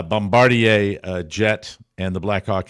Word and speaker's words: Bombardier: it correctly uh sorry sorry for calling it a Bombadier uh Bombardier uh jet and the